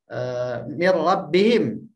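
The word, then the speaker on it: مِنْ رَبِّهِمْ: Mir rabbihim. Tulisannya min rabbihim, tapi dibacanya langsung mir rabbihim.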